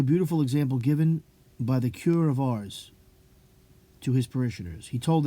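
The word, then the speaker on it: Curé of Ars: "My children, a cure of Ars, it's pronounced, sorry.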